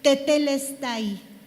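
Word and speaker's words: τετέλεσται: oído mucho, que es tetelestai. Tetelestai. T e te e con acento en la segunda e t te lestai.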